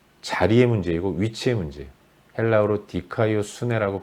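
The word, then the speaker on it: δικαιοσύνη: 헬라어로 디카이오 수네라고 발음하는 단어인데 이것은 마땅히 있어야 할 자리에 있는 것입니다.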